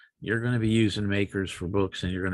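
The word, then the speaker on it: MACRS: It's pronounced makers and um uh it's not acceptable for financial reporting uh because it it doesn't really consider salvage value.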